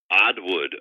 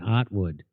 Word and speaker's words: Oddwood: Oddwood, Oddwood. Oh, Oddwood. Oh, okay. Oddwood. I was saying Ottwood. Oh, no. It's like Patton Oswalt or Patton Oswalt. It's different. Very different. Very different. Oddwood.